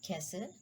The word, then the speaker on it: castle: The letter T is not pronounced in the following common English words. Castle, so T is silent.